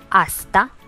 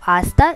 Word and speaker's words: hasta: Hasta luego. Hasta luego. The H of hasta is silent again, like in hola.